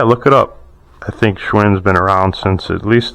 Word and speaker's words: Schwinn: Schwinn. Schwinn.